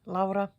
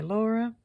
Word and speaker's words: Laura: My name is Laura or you can say Laura if you want. So just L A U R A. And I am Finnish. So that's why I pronounce my name the way I do.